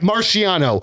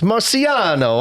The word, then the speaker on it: Marciano: Marciano uh emails in with this one.